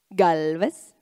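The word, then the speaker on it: Gálvez: Galvez? Ah, that's right. There is an accent on the A.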